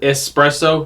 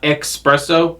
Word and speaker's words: espresso: espresso maker fun fact it's called espresso not expresso so next time you hear somebody pronounce espresso with an x give them a slap